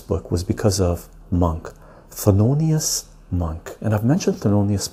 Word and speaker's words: Thelonious: And the reason that I picked up this book is because of Thelonious, This is the way you pronounce his name or spell his name. T-H-E-L-O-N-I-O-U-S.